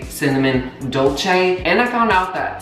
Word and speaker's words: dolce: how to say cinnamon dolce, and I found out that cinnamon dolce is pronounced dolce. Dolce. I found out it is Italian.